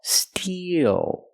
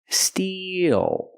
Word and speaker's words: steel: steel we use the long e plus the dark L Steel e like green beans steel then transition to the